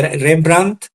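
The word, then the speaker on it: Rembrandt: piel piel o peale que se pronuncia rembrand terminado en t no como el rembrand histórico rembrand dt termina en dt peale pel o peel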